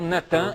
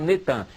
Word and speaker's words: Natan: No dia 4 de novembro de 2002, lança o nome do ex-primeiro-ministro de Al-Shorud de Israel, Natan, é Natan, eles já fizeram o sincretismo, botaram Netan, mas é Natan Yarro.